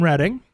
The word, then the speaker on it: Reading: don't we go to actually it says reading but the pronunciation is Reading Pennsylvania yeah cuz you know